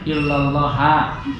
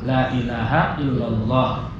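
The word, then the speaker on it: لا إله إلا الله: Sehingga pendapat kata ulama ini bacanya illallaha. Kata pendapat ini mengatakan illallahu. Yang masyhur, yang paling kuat adalah la ilaha illallah.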